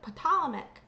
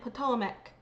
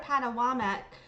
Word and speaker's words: Patawomeck: And mind you guys, I've heard of Patame and Ptomeck being different um pronunciations, but I've never heard of Padawam outside of people who are not connected to the community.